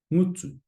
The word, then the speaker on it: ngutu: that we just went through, how would you pronounce the following? So our first kupu, whare, whare, house, whare. Ngutu, ngutu.